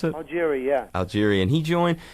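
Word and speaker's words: Augeri: with Steve Al Algeria is that how you pronounce it Algeria yeah Algeria and he joined was it the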